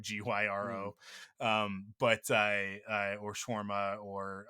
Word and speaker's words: gyro: Like some places you might hear it referred to as hero, like which is spelled gyro, Mm. gyro.